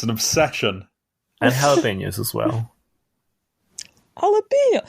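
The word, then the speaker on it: jalapeño: jalapenos. Yes. I hate to correct you, both of you, but it's pronounced jalapeno.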